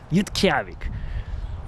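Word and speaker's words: Utqiagvik: Now you can Google that little town, Yutkavik. That's how they say it. Yutkavik.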